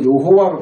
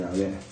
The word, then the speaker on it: 야훼: 지금 여러분 우리 한글 성경에도 여호와로 번역되는데 이걸 뜯어보시라고 그만큼 해도 안 뜯어보시네요. 사실 야훼입니다. 야훼. 여호와라고 발음하면 이건 잘못됐다고 지금 우리 학교에 다 판정이 났는데 아직도 저걸 잘하고 있는 거예요.